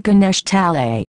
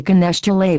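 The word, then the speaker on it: Ganesh Talai: home to every night it's a suburb called Ganesh tali he was mispronouncing it as a child calling a Ganesh delay but it confirms that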